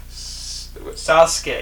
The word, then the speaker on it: Sasuke: Sasuke. It's 2 syllables again. Come on now. It's like sauce K.